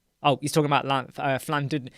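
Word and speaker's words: Llandudno: Oh, he's talking about Flandudnu. It's actually, isn't it pronounced Flandudnu? It looks like Landudnu, but it's Flandudnu, isn't it? Am I right?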